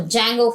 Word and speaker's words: Django: and the Django framework D is a silent word so Django framework like that we have to pronounce it flask is a normal